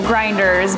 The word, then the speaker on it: Grindhrs: you said it correctly so grinders but the spelling is different so not necessarily the pronunciation grinders feels as if